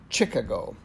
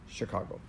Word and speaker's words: Chicago: correct me and say it is not Chuggo, it happens to be Chicago.